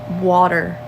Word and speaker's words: water: word people from Baltimore there's a t in that word I don't know what is with us we can't pronounce our T's everything's with a d water W water it's